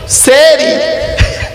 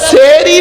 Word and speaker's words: সাহারি: সেহরি। শব্দটা সেহরি নয়, শব্দটা হলো সাহারি। দন্তেশ্বয় একার নয়, দন্তেশ্বয় আকার।